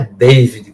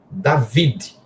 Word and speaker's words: David: Esse D, segundo, é mudo. David mesmo, não é David, como muita gente quer americanizar. É o número, é o nome hebraico. David. O D mudo no final, não é David, é David.